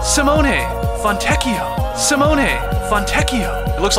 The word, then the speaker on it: Simone Fontecchio: Italy every year so we have you to pronounce Simone fontecchio Simone fontecchio Simone fontecchio it looks like lb from the